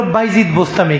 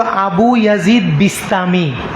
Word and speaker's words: আবু ইয়াজিদ বিস্তামি: আল্লাহর একজন ওলির নাম হইল বাইজিদ বোস্তামি। কি? এটা হলো বাংলাদেশের সমস্যা, সব ভুল নাম উচ্চারণ করে। বাইজিদ নামে পৃথিবীর ইতিহাসে কোনো ব্যক্তি নাই। ওনার নাম হলো আবু ইয়াজিদ বিস্তামি।